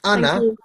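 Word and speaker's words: أنا: Yeah, so this ana, on ana, this alif, you don't pronounce it.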